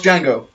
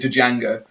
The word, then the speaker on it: Django: Watch Django. I will. Really annoys me when people say Django. Because there's a silent D. The D is silent.